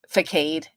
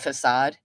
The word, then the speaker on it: facade: am stupid right like one time I said fade instead of facade well it spelled out